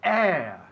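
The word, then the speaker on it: heir: with the letter H, esta H es muda, que es muy raro en inglés. En español siempre es muda, pero en inglés nunca. Pues eso es una excepción. Air. Se escribe H-I y latina R. Air. Y significa ¿qué? Heredero, ¿no? Heredero. Air. Suena igual que aire.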